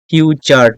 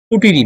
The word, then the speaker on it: future: number past tense এবং এবং তিন নাম্বার হচ্ছে ফিউচার টেন্স সো প্রেজেন্ট বানানটা একটু দেখে নেবেন প্রেজেন্ট পাস্ট কিন্তু ফিউচারে গেলে দেখা গেছে অনেকেই কুচুর ই উচ্চারণ করে ফেলে আসলে এটা কিন্তু উচ্চারণ কুটিরি নয় এটা উচ্চারণ হবে পাস্ট টেন্স সরি ফিউচার